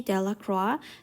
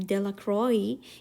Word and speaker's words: Delacroix: Bobby and Harry Johnson, Dickie Delacroix, The villagers pronounced his name Delacroix, eventually made a great pile of stones in one corner of the square.